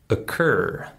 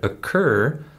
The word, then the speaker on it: occur: schwas sound emerge and also the word occur the word occur starts with an O but it's also the same shwah sound so you can see